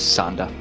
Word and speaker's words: Zonde: I found Zonde. Zonda. No, Zonde. Yeah. It turns people into zombies. It's spelled with an E, but it's Zonda.